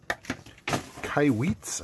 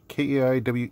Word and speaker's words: Kaiweets: They are called Kaiweets, I think it's pronounced. And it's a nice little case here. Yeah, Kaiweets.